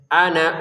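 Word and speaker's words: أنا: Perhatikan ada nun, fathah kemudian alif. Ya, katanya kalau ada fathah kemudian alif dipanjangkan dua harakat. Betul. Tapi ini kok kita baca pendek. Ana uhyi. Kenapa dibaca ana uhyi? Kenapa tidak dibaca ana uhyi? Kenapa? Karena panjang alifnya ini sudah di atasnya ada bulatan lonjong. Ya. Bulatan lonjong apa fungsinya, Pak? Bulatan lonjong fungsinya ya ketika kita menggabungkan maka dia tidak dipanjangkan, tidak ada fungsi lagi.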